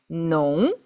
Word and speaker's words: 农: So, here we have nong, nong, nong. You know this? All of these exactly the same pronunciation.